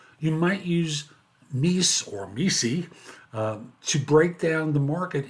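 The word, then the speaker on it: MECE: used in case interviews is Missy or as Barbara Minton who created it pronounces it Mis but you you pick the way that you're more comfortable with mutually exclusive Collective exhaustive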